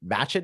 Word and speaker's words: Matchett: I believe it's just at Jojo and MATCHETT is your last name. Is that how you pronounce it?